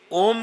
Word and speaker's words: ओम: ये 3 शब्द हैं आ, उ, अमा। अब जो हम ओम बोलते हैं वो शुद्ध नहीं है। उसकी शुद्धि तभी है जब हम उसका उच्चारण सही प्रकार से करते हैं।